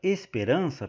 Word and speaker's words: esperança: para cima aqui na palavra Esperança pessoal a sílaba tônica é o rã e aí eh a última sílaba é o é o sa né Esperança só que o que que acontece a a sílaba tônica na palavra esperança é a penúltima Então ela é uma